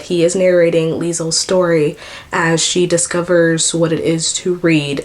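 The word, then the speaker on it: Liesel: It's spelled L I E S E L. So, I'm just going to say Leisel.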